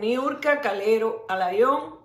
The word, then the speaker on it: Niurka Calero Alayón: Son apellidos, se pronuncian y se dicen siempre de la misma forma, pero yo lo estoy diciendo de estas dos formas porque de estas dos formas las personas lo dicen fuera. Nunca han dicho mi nombre en este país, en Estados Unidos, correctamente, nunca.